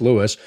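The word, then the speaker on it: Lewes: you have Bethany Dewey Cape Henlopen Lewis it's pronounced Lewis it's not L if you're a tourist you say l it's not L it's Lewis femi Island all better than reoboth in my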